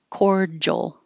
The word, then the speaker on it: cordial: d there pharaoh pharaoh cordial doesn't look like it there's no j in there but that d i is a j cordial patron looks like o